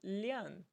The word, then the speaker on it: 两: Então, por exemplo, antes de palavras de medida ou contadores, o numeral 2, quando nós estivermos falando de 2, ele será pronunciado como lian e não como ar, tá?